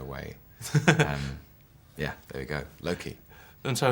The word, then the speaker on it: Loki: How are you pronouncing your character's name? Loki.